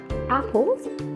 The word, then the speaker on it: apples: محتاجين نعرف كلمة apples النطق بتاعها apples، لازم يكون في هوا صوت الباك ساوند لأنها خلاف حرف البي تماما.